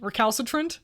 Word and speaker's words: recalcitrant: typing so slowly that word how do we pronounce this word friends hello welcome unfortunately i can't read recalcitrant recalcitrant thank you a word i've never seen before